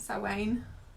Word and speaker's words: Samhain: Samhain, it's pronounced.